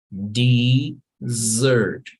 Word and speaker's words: dessert: Yeah, and there are some words that don't even have a Z. Hay palabras que ni siquiera tienen una Z, pero aún así se va a pronunciar con Z. Por ejemplo, la palabra postre. So in English, no hay una Z, pero se va a pronunciar como si la tuviera. So you would say dessert.